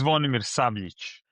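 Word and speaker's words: Zvonimir Sabljić: So today we have uh Swanimir Sab Sabilik. I'm sorry to pronounce incorrectly your name.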